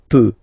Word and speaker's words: peux: as usual, so je peux, okay? Final X not pronounced here, okay? So you've got X, but you don't pronounce it, so basically you get the sound peut, je peux, okay, so I can, je peux, okay.